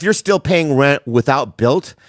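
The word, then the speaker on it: Bilt: It's 2026, and if you're still paying rent without Built, it's time for a change. Built is spelled B-I-L-T, by the way.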